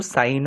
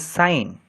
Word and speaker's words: sine: Please do not pronounce it as sin, it is sine.